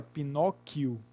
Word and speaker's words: Pinóquio: Então, na palavra Pinóquio, o U do QU não é pronunciado.